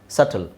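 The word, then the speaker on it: subtle: ಪ್ಲಮರ್ ಪ್ಲಮರ್ ಹಾಗೆ ಇದು ಸಬ್ ನೋಡಿ ಸಬ್ ಅಂತ ಅನ್ಸುತ್ತೆ ಬಟ್ ಬಿ ಸೈಲೆಂಟ್ ಇದೆ ಸಟಲ್ ಸಟಲ್ ಸಟಲ್ ಇಲ್ಲಿ ಬಿ ಇದೆ ಸಕಮ್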